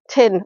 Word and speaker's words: Teignmouth: Tin. All right, Teignmouth. Well, why do they spell it Teign? If it's tin.